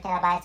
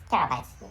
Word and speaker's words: terabyte: made a mistake and the correct pronunciation is t e r a which means terra terra terra and anyway